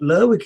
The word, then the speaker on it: Lerwick: So I would say that Lerwick is the correct pronunciation, being that it's a town that pronounces the people of the town pronounce the name like that.